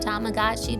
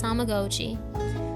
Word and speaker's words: Tamagotchi: Yes, that is how you pronounce it. It's kind of a thing for me because we all grew up saying Tamagotchi, but it's Tamagotchi.